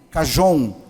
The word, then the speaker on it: cajón: meu projeto de chama-se carron né O que que é o carro on Na verdade ele se escreve chj o n cajón mas é um instrumento de